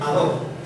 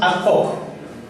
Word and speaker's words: ad hoc: Pero he escuchado que dicen algunos ad hoc. Hoc, como si la H fuera una J. Hoc. Entonces digo hoc. Entonces si pronuncias ad hoc, también pronuncia homine. ¿Y por qué dices homine? La H es muda en el latín. O sea, es como si esto ad hoc, no existiría la H.